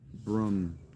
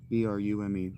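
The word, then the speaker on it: brume: I titled this scene Brum. B-R-U-M-E. Brum. That's how I'm pronouncing that.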